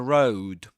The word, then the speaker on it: road: And road, road. This is pronounced just like glow, glow, a word that appears in the story before this line. Glow, that diphthong, oh, oh.